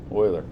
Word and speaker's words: Euler: is Greek pronounced Euclid Euler is German pronounced Euler anyway um Euler circuits